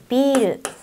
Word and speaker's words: ビル: They have similar pronunciation, but they're completely different. biru means beer.